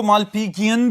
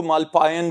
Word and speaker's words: Malpighian: जी students, इनको मालपीजियन भी बोलते हैं, मालपीजियन भी, और इवन के कुछ प्रोनाउंसिएशंस ऐसी भी हैं जिनमें इनको मालपायन भी बोला जाता है, लेकिन सस्पेंडेड ट्यूब्यूल्स हैं, आसान तरीके से याद रखें।